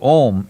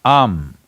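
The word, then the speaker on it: Aum: Because you're Omarion, there is also Ammeri, it is not to be said as Om, it is Am. It is just three sounds.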